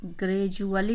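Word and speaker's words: gradually: इन ए big tree ग्रैजुअली उच्चारण है जब भी दी के बाद यू ए जाति है तो यू की वजह से इसका उच्चारण डू का डू नहीं होता है तो यह आपको पढ़ने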